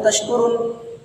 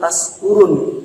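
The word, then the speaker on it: تشكرون: Contohnya, kalau orang yang faham la'allakum tashkurun, tetapi ketika ada orang yang kurang faham atau tidak faham, dia akan membacanya la'allakum tashkurun pakai sin kecil.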